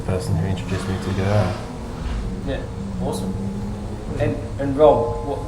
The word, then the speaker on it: Guvera: Get the name right, Guvera. I hadn't learned how to pronounce the name either prior to coming back.